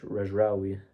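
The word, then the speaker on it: Regragui: They also fired their coach Rejraoui, that's how you pronounce it, who was extremely rigid to play a 4-5-1 AFCON.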